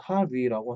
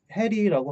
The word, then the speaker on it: Harry: 이게 스펠링 HARRY 그러면 노르웨이식 발음으로는 하리라고 하는데 하리. 근데 작중에서는 해리라고 하는 게 해리라고 읽는 게 맞다고 해요. 그러니까 영어식 알파벳으로 읽어야 돼요.